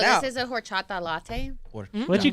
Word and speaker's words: horchata: I know y'all don't say the H.